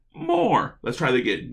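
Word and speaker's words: Thomas More: Not less but more.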